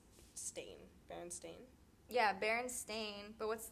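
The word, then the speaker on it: Berenstain: it's Baron Stein versus Baron stain Baron Stein versus Baron stain yeah I remember I remember Baron Stein I remember Baron Ste I think I remember Baron Stein because that's how like I always say it like oh the baron Steen Bears said the baron stain bears that and it makes more sense to me it sounds better than Baron Stein yeah like that doesn't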